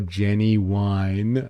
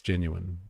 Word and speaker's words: genuine: He can call a Jenny wine on his own time. Yeah. rhymes with bin. It's genuine. Got it.